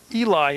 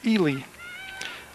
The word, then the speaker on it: Ely: Well, I've been calling her Eli, and it's Ely. I checked with Ken Webb, the head basketball coach, because she was down there actually shooting baskets for basketball season. And, of course, I pronounced that wrong all last year and this year. But I got it now. It's Ely, not Eli.